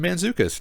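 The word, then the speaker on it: Mantzoukas: jacobs you got i don't know how to pronounce his last name but jason man mandzukic you got it jason mandzukic nice mandzukic he's hilarious he is worth the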